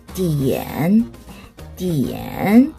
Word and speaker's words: 点: 이와 N 사이 혹은 위와 N 사이에 이렇게 아가 들어가면 이때는 아는 에로 발음한다 그랬어요.